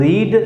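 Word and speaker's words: read: सीता रामायण पढ़ चुकी थी अर्थात सीता हैड रीड की सेकंड फॉर्म और third form रीड, रेड spelling वही रहती है लेकिन रेड पढ़ा जाता है।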